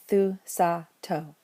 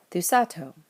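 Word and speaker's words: θυσάτω: We'll look at the last syllable, see that it's long, and count back 1, 2, and put an acute over the alpha and the second to last syllable, thusato. Thusata means sacrifice as a command.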